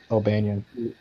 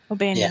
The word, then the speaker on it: O'Banion: Albanian. O'Banion. Yeah, O'Banion. How do you spell that?